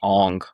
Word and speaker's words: Aang: Avatar Aang. It was I gave it a jillion out of 10. When I believe it's pronounced Ong.